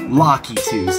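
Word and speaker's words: Lakitus: Lockitus, that's how you pronounce it.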